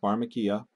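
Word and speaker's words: φαρμακεία: up its word it's word number 5331 it's pronounced phakia and this is the source of our English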